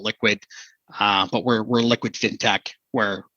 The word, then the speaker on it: LQwD: So, and our Liquid is spelled LQwD, the same as our Toronto Stock Exchange ticker. And so a lot of people just call it, hey, LQwD. We call it Liquid, but we're Liquid FinTech,